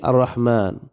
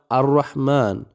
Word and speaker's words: الرحمن: ഒക്കെ സന്ദർഭത്തിനനുസരിച്ചിട്ടാണ് അപ്പോ ഇവിടെ അറഹ്മാൻ അറഹ്മാൻ എന്ന് നമ്മൾ പറയുമ്പോൾ ആ ഉച്ചരിക്കുന്നുണ്ട് നിങ്ങൾ പറഞ്ഞു നോക്കിക്കേ അറഹ്മാൻ അറഹ്മാൻ ആ ഉച്ചരിക്കുന്നുണ്ട് എന്നാൽ തൊട്ടുമുന്നിലുള്ള പദത്തിലേക്ക് ചേർക്കുമ്പോൾ ആ ഉച്ചാരണം പോകും ബിസ്മില്ലാഹി ബിസ്മില്ലാഹി കണ്ട അതാണ്